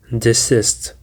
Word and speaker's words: desist: Now guys, let's go to the last word that we have today, which is desist. Desist. Desist contains two syllables and the stress is on the second syllable.